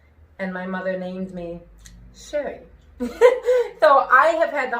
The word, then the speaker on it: Sherry: say my name because people think i'm saying shelley they think i'm saying share we with a w um shelley with elves